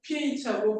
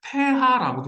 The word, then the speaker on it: pH: 사람이 이거 제안을 했대 그래서 이거 PH고 안 읽고 폐하라고 읽어요 독일식으로 그래서 이거 독일로 줄